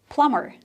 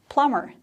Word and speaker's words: plumber: i hear a lot it's a plumber b is silent so a plumber is